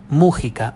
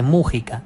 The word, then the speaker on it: Mujica: pronunciación del apellido Mujica a sabiendas que es un apellido Vasco y que en el